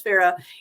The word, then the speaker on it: Farrha: story but yes her name her name is Farah it is spelled um it was is spelled the way